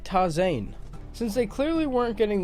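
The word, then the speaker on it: Tarzán: huh turns out that tarzan is pronounced completely different in spanish and is more like toss Ain since they clearly weren't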